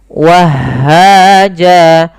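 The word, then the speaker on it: وَهَّاجًا: Akan tetapi ketika di akhir bacaan dan waqaf, apabila ada fathatain bertemu alif di akhir bacaan, maka dia diiwatkan, diganti menjadi panjang sebagaimana mad tabi'i. Jadi bentuknya seperti ini.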